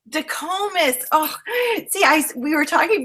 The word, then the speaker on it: Dicomes: And so excited to have Combs. Did I say it correctly? You're close. Okay, you say it. It's DeComas. DeComas.